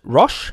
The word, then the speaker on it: Roch: R-O-C-H, Roche. Maybe that's Roche, Rochelle. L-L-M-E-R. Or it could be a male. Rock. Pronounced Rock.